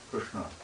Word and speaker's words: Krishna: Well, it's in the, you hit the top palate of your mouth, Krishna.